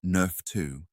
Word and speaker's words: NRF2: Sulforaphane is one of the most powerful natural inducers of a cellular defense system called the NRF2 pathway, pronounced Nerf 2.